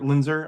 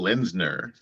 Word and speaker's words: Lindner: and he does this lindler Linder I always say it wrong Joseph Michael Lindner Lindner yes his he does this